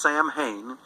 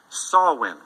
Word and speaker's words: Samhain: holiday an ancient celtic holiday it's not produ pronounced samhain it's pronounced sawwin okay so sawin is an ancient celtic holiday that is thousands